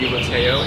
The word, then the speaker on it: Lateo: Okay, so in More Happy Than Not we have the Lateo Institute, is that how you pronounce it?